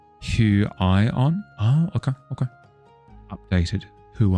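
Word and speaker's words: Huion: As far as you know, uh, it's pronounced who I on.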